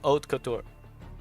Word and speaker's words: haute couture: I'm gonna look it up. Oat, apparently. I was gonna say this couture, so I already had this pretty much right. So it's haute couture.